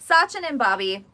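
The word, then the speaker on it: Sachin & Babi: called uh okay I don't know how to pronounce this so oh yeah tell me how to say this Sachin and Bobby so Sachin and Bobby is the name of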